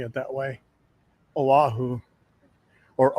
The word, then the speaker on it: Oahu: Oahu I've been told I need to start pronouncing it that way Oahu or Oahu instead of Oahu I'll give it a shot we are at